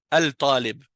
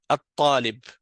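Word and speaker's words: الطالب: Donc si je dis par exemple al Tallib, Alibon donc je sais tout de suite que c'est une harf shams parce que alib ça se prononce mal. Donc je vais dire tout de suite atalib tandis que kalbe par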